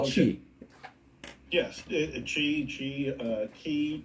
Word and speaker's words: Qi: chi chi uh key you call it Chi it's a chi coil q i c o i l is that correct yeah so Qi because in Chinese Chi is spelled with Qi yes okay so I